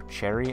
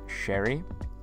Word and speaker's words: Sherry: lancaster lore video and called her cherry i was wrong the correct pronunciation is sherry but i don't care